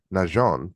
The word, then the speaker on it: Najean: none other than Nehon and I pronounce the name specifically Nhon to pay heritage to again her marriage which is to a gentleman of French descent.